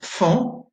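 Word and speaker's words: faon: Vous avez aussi une graphie un peu plus exceptionnelle, c'est AON. Vous l'avez dans trois mots, fan, c'est Bambi, le petit animal, pan, le bel oiseau avec une queue multicolore, et tan, qui est une mouche qui pique et qui fait assez mal.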